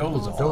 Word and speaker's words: Dolezal: On Friday, NAACP officials stood by Miss, how do you pronounce it again? Dolezal.